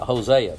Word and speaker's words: Hosea: what they told me Hosea that's the English pronunciation of it let's look at it